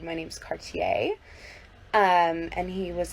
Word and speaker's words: Cartier: And he's like, that's pronounced Cartier. And I was like, no, actually, it's French, so it's pronounced Cartier, but Cartier is fine in English.